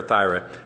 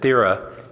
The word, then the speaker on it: Thera: Yes, I just wanted to mention under this debate on pronouncing it Thera or Thyra, I believe that Councilmember Price has it right, and that the inventors of the acronym appreciated that Thera is the Greek name for the island of Santorini, which is